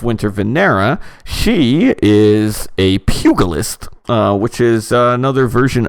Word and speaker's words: pugilist: venera she is a pugilist which is uh another version of the monk subject sorry what the g is soft pugilist pugilist ah see my